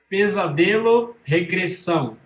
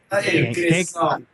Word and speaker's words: Pesadelo Regressão: The correct pronunciation for the game. Pesadelo Regressão. Regression. I can't. Regressão.